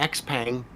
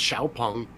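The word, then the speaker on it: Xpeng: hardly important uh like the x-pang is pronounced xiaopong all right whatever it's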